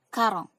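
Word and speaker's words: quarante: Ya, 40 ini bacanya karong.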